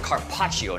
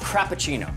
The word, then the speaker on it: carpaccio: Cindy, it's pronounced carpaccio, not crappuccino.